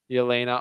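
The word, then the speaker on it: Jelena: his story shout out how do you say her first name yena ostapenko yena and then she you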